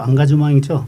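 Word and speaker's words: engagement: 이게 뭐 프랑스 발음으로 앙가주망이죠.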